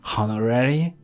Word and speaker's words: honorary: Please don't pronounce it like honorary, like honestly, right?